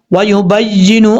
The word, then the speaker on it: وَيُبَيِّنُ: اچھا کچھ لوگ ہجے کرتے ہوئے کیا غلطی کرتے ہیں، یہاں پر یا کے اوپر شد ہے، وہ ہجے کرتے ہیں با یا زیر بائی، ایسا نہیں کرنا. یا کے اوپر شد ہے، جب یہاں پر ہجے کریں گے تو ہجے کرتے ہوئے با کو یا سے کنیکٹ کریں گے، ہجے کرتے ہوئے یا